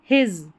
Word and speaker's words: his: हिज, इसको हिज पढ़ेंगे, हिस नहीं पढ़ना है, हिज।